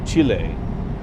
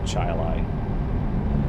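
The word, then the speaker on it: Chili: And then like in New York near Rochester, there's a town called uh you would think it would be Chile, but no, it's Chilai.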